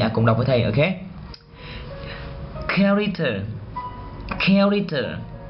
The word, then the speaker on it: character: Chúng ta không đọc là character mà chúng ta phải đọc là character.